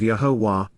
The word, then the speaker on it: Yahowah: grow and yield fruit, of Yahowah, the proper pronunciation of Yahowah, our Eloah, God has directed in his Torah,